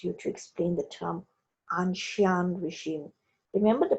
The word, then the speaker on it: ancien: to explain the term anshan regime remember the pronunciation is anshan it's a french pronunciation regime angshan means ancient